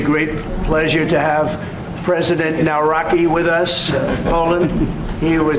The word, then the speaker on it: Nawrocki: It's a great pleasure to have President Naraki with us.